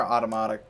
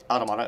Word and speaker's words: Automata: Well, I guess Nier Automata. Automata, is that what it was? I apologize. I apologize. But the director pronounces it both ways.